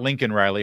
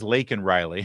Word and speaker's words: Laken Riley: It's not Lincoln Riley. Her name is Laken Riley.